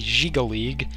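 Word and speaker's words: Jyggalag: say the most likely D crisis would be jigal league and yes that actually is the correct pronunciation for once I looked it up the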